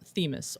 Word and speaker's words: Themis: so you know uh themis is pronounced themis or alternately ellidibus yes elitabus um yeah it's not well it's not famous it's themis it's because it's greek greek weird's a word